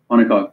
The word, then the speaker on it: monocoque: There's semi-monaco, or I think I'm saying it wrong. Semi-monaco and then monaco. Monocoque. Good. So semi-monocoque and then monocoque.